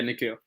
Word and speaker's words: Nikhil: Forgive me if I haven't pronounced your name properly, brother. Is it Nikhil? Yeah, Nikhil.